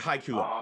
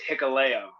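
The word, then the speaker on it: Hikuleo: But it's Hikaleo. Hikaleo. Yeah, Okay. trust me, the names are tough, But now I know how to say it, Hikaleo, Hikaleo.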